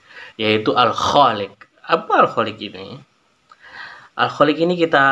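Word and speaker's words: الخالق: Selanjutnya makhorijul hurufnya, huruf kho dalam lafal al-khaliq dibaca panjang karena ada huruf alif di depan huruf kho yang berharokat fathah.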